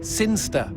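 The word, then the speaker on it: Cirencester: the boring town of siner sester sinster what it's pronounced sinster how do you know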